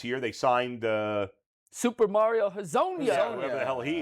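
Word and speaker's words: Hezonja: But like Should we Mobley, trust him on the pronunciation? Nah, Actually, this one I do know. You It do? is Yeah. Hazonia, yes.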